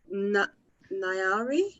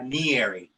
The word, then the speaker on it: Nyari: talk to um nyari hey yeah did i say your name wrong uh nieri nearly okay how you doing